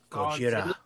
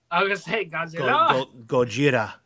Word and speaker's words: Gojira: Hepburn, it says Gieraga pronunciation, blah, blah, blah, blah. Gieraga. Just like, what is the Japanese for Godzilla? Gojira. Gojira.